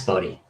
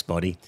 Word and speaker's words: Boddy: How do we pronounce it? Boddy. Yeah. Boddy.